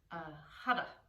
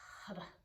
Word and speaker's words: Har: And if you like, the sound that will repeat is hara. It's spelled H-A-R. It translates to the infinite one. The R is rolled, so it sounds like hada, hada, hada.